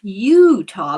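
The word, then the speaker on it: Eutaw: She was born September 12th, 1906 in En Oh, Utah, but it's spelled EU T A W.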